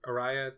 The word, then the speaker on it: Araya: She said Aria, and I'm like, you mean Araya? Araya, sorry. Whatever. I don't know how it's pronounced, but it's just like Aria.